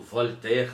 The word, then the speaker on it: Voltaire: O livro é O Cândido Otimismo, do Voltaire, ou do Voltaire, né, como na pronúncia francesa.